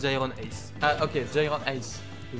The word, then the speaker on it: GyronAce: Ça se prononce Iron Ace.